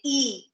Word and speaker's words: y: Y, और उस Y letter को हम and के लिए जब हम उसको pronounce करते हैं, we do not say Y, we say E. We call it E.